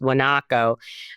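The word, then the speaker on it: guanaco: a lot of wakos it starts with the G but it's pronounced wanaco um and yeah even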